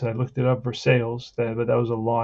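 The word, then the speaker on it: Versalles: First, now I remember how to pronounce it. I looked it up, Versailles, but that was a law.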